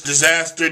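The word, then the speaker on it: Dizzazzter: It's Disaster, D-I-Z-Z-A-Z-Z-T-E-R, just like it's spelled in here.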